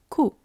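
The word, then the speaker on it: 九: In Japanese, 9 is pronounced ku, just like today's kanji.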